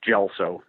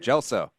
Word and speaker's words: Gelso: Pub Studios is gelo follow him on Twitter at clns uh thanks I I start I got to start you again it's gelo spelled with a G pronounced with a J everybody does it you